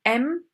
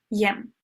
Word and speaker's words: եմ: the Armenian letter Ye, the Y in this case is not pronounced. So it's M and not Yem. Here I marked all the